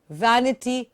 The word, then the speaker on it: vanity: washed the Vanity Fair but remember vanity is with ver and it's not vanity fair' okay bear you have to buy to a lower lip we really wonky washed